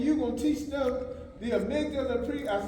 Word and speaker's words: amygdala: This 3-year-old, he said, it's the manana. I said, that's all right. I said, amygdala. He said, amygdala. Now, he didn't know how to pronounce it, but he knew